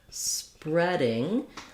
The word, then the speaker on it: spreading: So in the word spreading, letters E-A often say E, but in this word they say eh. So it's like the past tense read, present tense read, past tense read has the eh vowel, the same as this kind of read.